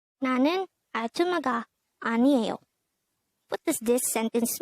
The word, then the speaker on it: 아줌마: 아줌마. 아줌마. This is pronounced as a three-syllable word. The first syllable is a, the second syllable is zum, the third syllable is ma.